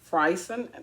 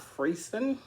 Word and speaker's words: Friesen: At first, I would be like, it's Friesen, not Friesen. But most of the time, people pronounce it Friesen. but it's Friesen.